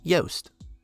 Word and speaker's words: Joost: and Eddie Yost now the name juiced is of Dutch origin and in that language would be pronounced Yoast the fact that two